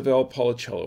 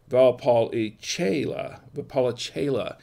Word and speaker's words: Valpolicella: And this is a Valpolicella wine.